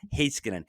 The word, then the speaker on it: Heiskanen: I've been saying it wrong. Heiskanen.